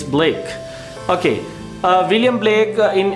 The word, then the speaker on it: Blake: First of all, ye black nahi hai, ye Blake hai. Mostly the people pronounce William Black. It's not Black, it's Blake.